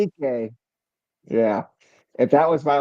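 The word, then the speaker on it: Dike: Shame Dyke. It's actually pronounced DK. DK.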